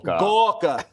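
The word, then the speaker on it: Gorka: Uh that's actually how you pronounce his name. Gawka.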